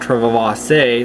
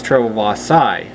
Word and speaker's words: trewavasae: wrong but it's not trevor say or trevor c is treble boss psy even though the last two letters of the name are ae so it's named after